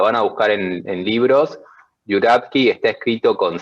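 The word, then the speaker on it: Журавский: Y se pronuncia más o menos Juravsky.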